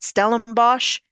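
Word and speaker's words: Stellenbosch: route in the country, known as Stellenbos and Frenchuk, which are African's words. I should know I'm married to a Dutchman. He taught me how to say these words. I'm saying them properly.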